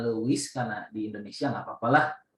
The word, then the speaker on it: Lewis: ngeceknya pakai karena sisa Lewis ya Lewis dibacanya Louis karena di Indonesia nggak